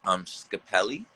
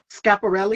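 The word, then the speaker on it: Schiaparelli: Brown, and then also I hope I don't say his name wrong, but Scapelli. Scaparelli, Scaparelli. There we go.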